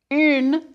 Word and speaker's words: une: Une, feminine, is that U, like you use for tu. Une.